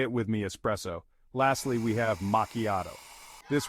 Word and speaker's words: espresso: it with me Cino espresso is a tricky word the stress is on the second part and the S sounds like a z espresso say it with me espresso lastly we have macchiato